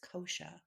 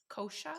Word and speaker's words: kosha: of ceremony and ritual the sanskrit word is kosha kosha how do you spell that k-o-s-h-a okay and what it means is